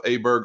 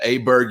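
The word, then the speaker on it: Åberg: that is ludvig aberg I heard himself call himself aberer over the weekend so I'm going back to Aber Berg you never know which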